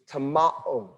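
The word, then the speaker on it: τιμάω: The way you pronounce that is tamao.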